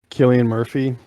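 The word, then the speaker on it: Cillian Murphy: played a scarecrow um killian murphy yes is that i think that's how you pronounce this yeah it is he he had that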